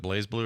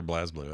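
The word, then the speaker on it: BlazBlue: how do you say is it blaze blue or blaz blue I don't even know I don't know it doesn't have an e Blaze but I don't think it necessarily matters I mean Bo makes a good point though because there's no e there it is spelled Blas blue but you know yeah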